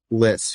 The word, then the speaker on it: Lyss: and everything else Harrison p is it Liss pronounced Liss Liss yes sir There You Go Harrison piss is